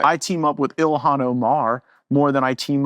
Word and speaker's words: Ilhan: Oh, is that how, am I saying it wrong? Yeah, it's Ilhan.